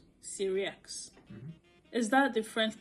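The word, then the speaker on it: Sirieix: Let's hear him pronounce his name himself. Survival skills. You're funny, aren't you? I'm Fred Syriax. I'm best known as a maitre d' in the First Dates restaurant. Yeah, Syriax, and he's known as a maitre d'.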